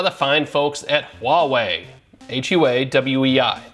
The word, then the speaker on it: Huawei: fine folks at Huawei hua WEEI that's how you pronounce it Huawei I know this because